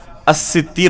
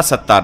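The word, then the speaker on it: السِّتِّير: میں سے الستیر ہے۔ تو حقیقت میں صحیح تلفظ اس نام کا کیا ہوگا؟ الستیر ہوگا، ستار نہیں۔ تو اسی طریقے سے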